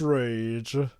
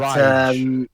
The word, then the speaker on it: Raige: Like, oh, he's named Rage, but he doesn't show much rage. That's the thing, Jova. Even though it's pronounced Rage, the actual way you write the name is Raige. It's But Rage.